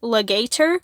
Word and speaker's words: Lagator: it can be pronounced legator which i find extremely funny or it can be pronounced lagator which would be way more menacing and way more monstrous so i i don't